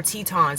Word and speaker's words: Teton: today and so our Tetons actually how you say it's not Tian it's Grand Teton today and so we might